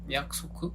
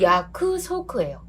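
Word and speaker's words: やくそく: 그러면 그 쿠가 약간 받침처럼 각세가 되는 경향이 있는 것처럼 또 하나 얘가 야쿠소크거든요. 약소크? 그래요. 그 야쿠소크예요. 아, 그래서 약처럼 들리는구나.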